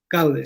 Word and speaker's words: Gaude: dirigías la pieza, si me equivoco en la pronunciación me corriges, Gaude. Gaude, sí.